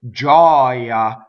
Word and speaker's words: gioia: When you say the noun, it's open. Gioia, because the stress is on the O.